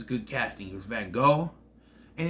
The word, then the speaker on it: Van Gogh: get frustrated because they keep Cohen and Vincent van Gogh it's Van Gogh say it right or don't